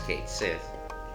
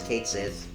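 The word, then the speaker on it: Cait Sith: like again i might just leave it as kate says because i don't think it's actually might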